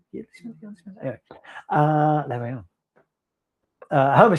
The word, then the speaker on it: Yeardley Smith: How do you pronounce that? Yeardley Smith. It's a year, isn't it? Yeardley Smith.